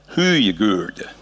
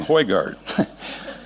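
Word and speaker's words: Høygaard: Now this this photograph was taken by a Norwegian whose name a Norwegian friend told me how to pronounce it. Irony Huyagur. For obvious reasons, I'm gonna call him Hoygard.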